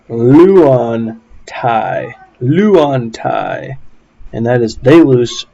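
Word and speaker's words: λύονται: alpha yoda and so you would pronounce this luan thai and that is they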